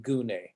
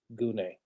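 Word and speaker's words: γυνή: make that clear that the why there has no connection with the oopsilon in gune no connection at all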